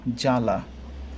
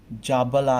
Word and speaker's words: জ্বালা: তো জ্বালা এর বানানে ব থাকলেও আমরা উচ্চারণে কিন্তু জাবালা এরকম আমরা উচ্চারণ করি না, জয়ের সাথে ব উচ্চারণ করি না। কীরকম করি সেটা? জ্বালা, বর্গীয় জয়কার যা, লায়কার লা, জ্বালা, তাই না? উচ্চারণটা আমাদের এই ধরনের হয়।